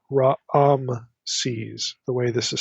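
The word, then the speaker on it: Raamses: the Hebrew can vary here we have literally ra se's there's like two a vowels in the pronunciation it's not Ram se's it's ra se's the way this is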